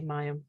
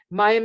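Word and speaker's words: מים: The Hebrew letter associated with this path is Mem, or Mayim, actually, Mayim, that's how you say it, which means water. Mayim is actually one of the 3 mother letters in the Hebrew alphabet.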